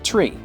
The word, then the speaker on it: three: you'd expect for example the number three is said as tree and five is f